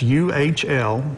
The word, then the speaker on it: Uhl: And it's U-H-L, and it is pronounced Uhl. Some people... I said Uhl, so it's Uhl?